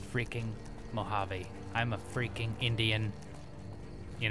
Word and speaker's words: Mojave: who actually thought I didn't know how to pronounce mojive it is mojive right I'm just kidding it's freaking Mojave I'm a freaking Indian you know kind of